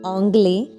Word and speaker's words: anglais: Je parle anglais without the pronunciation of S, anglais, hindi, H silent, et français.